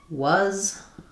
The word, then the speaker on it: was: So a word like was really sounds like was.